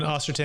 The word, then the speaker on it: Ostenson: John Ostenson, I'm going to spell it for you because it does sound like Austin, Texas.